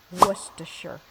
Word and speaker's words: Worcestershire: Then add 3 tablespoons of Worcestershire sauce. The correct pronunciation is Worcestershire.